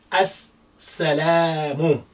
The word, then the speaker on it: as-salamu: So we say as-salamu, and the la is lengthening. As-salamu.